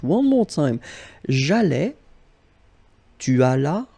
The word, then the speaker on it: allas: J'allais, tu allas, remember final S is not pronounced.